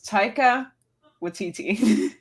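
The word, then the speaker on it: Taika Waititi: video of this guy explaining how to pronounce his name it's TAA wititi that's it yeah okay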